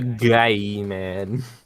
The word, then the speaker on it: Gaiman: written by author Neil Gaiman this was back in the 90s he's it's spelled James really Micah it's spelled g-a-i okay it's a guy man yeah man he's he's